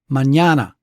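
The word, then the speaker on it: mañana: Uh consider for example Spanish words like mñana. See that's three syllables with the middle syllable accented.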